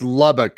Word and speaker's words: Lubbock: for a long time is it it's lubbock i'm saying it right correct yeah it's lubbock